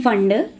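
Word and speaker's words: Pfund: Okay, this series of lines you call them as fun series P silent P fun P fun series.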